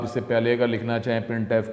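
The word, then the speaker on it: printf: The standard library function प्रिंटफ, जिसको pronounce किया जाता है प्रिंटफ, इज़ यूज for formatted output.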